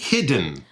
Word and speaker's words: hidden: Hidden. Oh, so it feels like the D and N are kind of combined together.